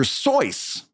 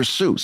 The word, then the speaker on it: Seuss: Oh, and by the way, my research did show me that he pronounced it Dr. Seuss, not Dr. Seuss.